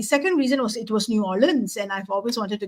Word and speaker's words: New Orleans: So I did go to New Orleans, and it's New Orleans, not New Orleans, as I was told to pronounce it.